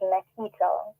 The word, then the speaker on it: Nikita: Well, I must say that it is pronounced Nikita. I figured it would have had to have been Nikita, as I said, but I just wanted to make sure because you never know.